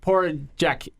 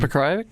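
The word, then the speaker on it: Pokrajac: He also beat Igor Porajek, however you say his name. Pekrajic?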